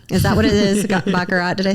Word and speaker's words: Baccarat: Baccarat?